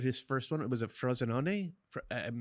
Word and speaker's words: Frosinone: He is with Frosinone. You had it right. Okay. With the pronunciation.